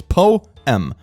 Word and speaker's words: poem: line is six syllables this poem does Rhyme that's five syllables poem is two syllables poem poem is one syllable who the freak uses